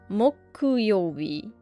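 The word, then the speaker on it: 木曜日: This is mokuyobi.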